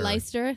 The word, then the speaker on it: Leicester: Or Sheffield, or Leicester. Leicester. Yeah. Even though it's spelled like Leicester.